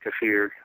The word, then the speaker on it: kefir: I make kombucha, I make kefir, some people pronounce it kefir, milk-based ferment.